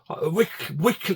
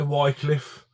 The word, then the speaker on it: Wycliffe: Wycliffe. It depends how you say it. You say Wycliffe or Wycliffe. I always say Wycliffe.